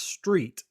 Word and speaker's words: Street: Well, ours is Street, and every time we say Ryan Street, they go, "How do you spell that?" And I'm like, like the road you drive on?